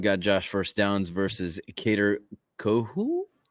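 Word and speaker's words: Kohou: Josh first downs versus ker coo I believe is how that's pronounced um coo coo K co co k o h o u um so uh there's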